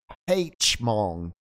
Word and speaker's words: Hmong: just m right the Mong the Mong people um course if you're British you say Hmong yeah the Hmong uh